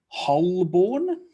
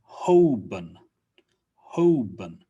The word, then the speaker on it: Holborn: think about this one wholeborn holborn not quite the l is usually not pronounced so it becomes hoben hoben and the born just